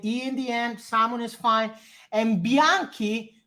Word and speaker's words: Bianchi: salmon is fine and Bianchi with the K instead of a CH in the end it would be like